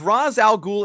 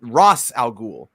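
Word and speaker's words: Ra's al Ghul: I can definitively say it is not R Al ghou it's Raz you know why you know why because Raz Al ghou is Arabic and it actually means head of the demon it's it's spelled with a re Alf and Z which says Ras scene it's a scene so Ross it's actually Ross Al goul not Ros but I mean it's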